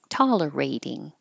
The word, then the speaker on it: tolerating: the t and tolerating the T changes to a d tolerating this could be spelled